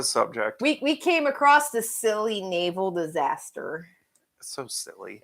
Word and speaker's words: Scilly: it's spelled s-c-i-l-o-y and I keep want to say Sicily because it looks like it should be Sicily but it's really the silly and it's pronounced like